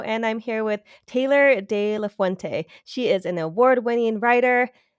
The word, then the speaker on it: de la Fuente: I've only had it for about a year, but it rhymes, de la Fuente, it rhymes with my first name. So sometimes when people are like, how do you pronounce that? I'm like, just rhyme it.